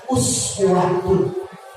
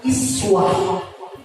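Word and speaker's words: أسوة: Yang umumnya dan selalu kita baca, Imam Hafiz itu membaca dengan uswatun. Uswatun. Namun ada satu lagi Imam Nafi' itu membacanya dengan iswah.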